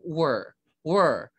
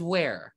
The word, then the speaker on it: were: Were. Were. You don't pronounce it as where.